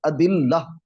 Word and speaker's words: ادلہ: مراد ہے۔ ایک تو اس کا تلفظ ذہن میں رہے، ادلہ، یہ الف جسے حمزہ ہم عربی میں بولتے ہیں، یہاں الف اردو میں الف ہی پڑھا جاتا ہے، تو الف کے اوپر زبر اور دال کے نیچے زیر اور